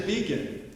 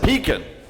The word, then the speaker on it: Beacon: My name is Beacon. Remember? Ah, yes, but that's not the way we pronounce it where I come from. We pronounce it Pekin. No, it's not. It's beacon.